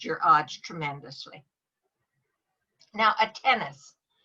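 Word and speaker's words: tenace: Now, a tennis. A tennis is pronounced like tennis the game, and it's spelt 10 and ace, but it doesn't mean 10 and ace.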